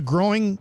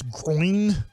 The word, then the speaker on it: groin: come back from the growing Gro injury I always hate that word always say growing but it's groin if I'm trying to